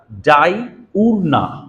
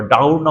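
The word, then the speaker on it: Diurna: দেখতে পাচ্ছেন আপনারা, দ্য অ্যাক্টা ডাই উরনা বা ডাউরনা উচ্চারণ করে অনেকে আর কি। হ্যাঁ, আমি যদি বলি ডাই উরনা, ঠিক আছে, সমস্যা নাই।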